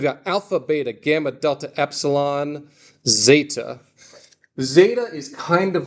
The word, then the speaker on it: epsilon: It says epsilon, on page 1, epsilon is E as in met, But eta is just in the name, eta as in obey or pray.